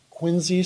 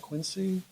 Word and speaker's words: Quincy: and west and northwest by quincy street that is the correct pronunciation right not quincy on the east and